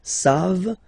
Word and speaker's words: savent: Here, classic ending for il and elle at the plural form, E-N-T. You don't pronounce it, so you get the sound save, v-v-v-v, save, okay? Ils savent, elles savent.